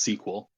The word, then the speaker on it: SQL: So it's actually pronounced sequel, Oh, okay.